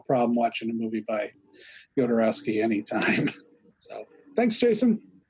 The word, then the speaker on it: Jodorowsky: so but the people the spanish people all said yodereski so you know i'm